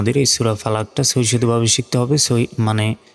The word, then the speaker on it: فلق: দিয়ে উচ্চারণ করি তো কফের উপর যদি সাকিন দিয়ে উচ্চারণ করি তখন আমাদের ধাক্কা দিয়ে পড়তে হবে উচ্চারণটা হবে ফালাক ফালাক কউজুবি রব্বিল ফালাক